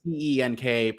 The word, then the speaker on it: Cenk: So many people don't know that his name is spelled CENK, pronounced Cenk.